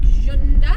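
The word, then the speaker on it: Cunda: well it's it's spelled like kunda but it's pronounced with a bit of a so it's like jund we're only driving for about 30 minutes today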